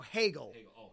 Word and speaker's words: Hagel: like point or something no no hegel h-a-g-e-l rhymes with bagel yeah though they already